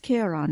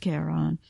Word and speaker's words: Charon: They do pronounce it Charon there, but anytime it refers to the character in Greek mythology, it's pronounced Charon.